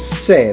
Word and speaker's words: ce: Now in Spanish it's se.